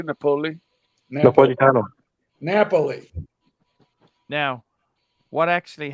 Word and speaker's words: Napoli: How do you pronounce his name, Timely? I would say Napoli.